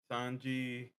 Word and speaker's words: Sanji: Sanji, or that's how you say his name?